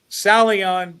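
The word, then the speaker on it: Psalion: It's salon, but remember it's like psychology PSI n or PSA lion.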